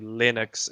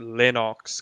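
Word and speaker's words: Lennox: has told them not to pronounce his name linux and to pronounce it lenox because that's how it's really pronounced that's nice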